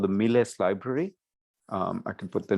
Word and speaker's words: MILES: And it's not Miles, they pronounce it Miles because this is from a Spanish group, Miles Library of Stellar Spectra.